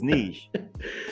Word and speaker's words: niche: on the east coast is Niche yeah but it don't rhyme with Rich I like this you